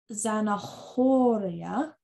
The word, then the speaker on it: zanahoria: La zanahoria. So you don't pronounce the H, so it's zanahoria.